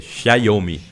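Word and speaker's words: Xiaomi: da Huawei da É tem que aprender a pronunciar é xomi xomi né porque o é como se fosse um tcho em italiano é quem me ensina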